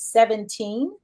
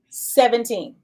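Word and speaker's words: 7EEN: Her name is 17. It is spelled 7-E-E-N, but it's pronounced 17. So it's the number 7 E-E-N. 7-E-E-N. But it's pronounced 17. Okay.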